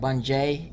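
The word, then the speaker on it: Bungee: Then I said Bungie, or how he pronounces it, like Bunjay. It's really cool. He does pronounce it Bungie normally in some bits.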